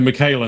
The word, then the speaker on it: Michaela: So Michaela, not Mika.